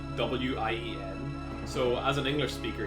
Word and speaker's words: Wien: Because like, they spell it It's that thing where German is spelled, like, in German, the W's are V's and the V's are W's, that type shit. Which makes, like, Vienna in German is spelled W-I-E-N.